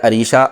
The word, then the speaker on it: عریشہ: انہوں نے الف سے لکھ کے بھیجا۔ عریشہ الف سے نہیں آتا، اس کا صحیح تلفظ ہے عریشہ، عین سے۔ عریشہ کا مطلب ہوتا